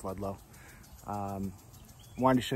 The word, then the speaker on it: Ludlow: uh we're back in ludlow uh dave it's pronounced ludlow um i wanted to show you more of